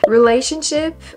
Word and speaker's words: relationship: and all that, but relationship, I'm saying relationship? Relationship. Am I saying it wrong? Relationship? Relationship. You emphasize on the second relationship. Oh, maybe I emphasize on the first one.